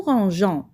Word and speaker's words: rangeons: Mais on doit ajouter un E muet à la première personne du pluriel nous pour garder le son J. Nous rangeons.